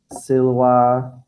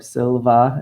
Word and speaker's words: silva: Okay, all the words nauta, Maria, Silva, or Silva, as you might have pronounced it with Mr. Rundy.